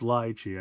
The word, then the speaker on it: lychee: game anymore okay so it's lychee i've been saying it wrong apologies nice and then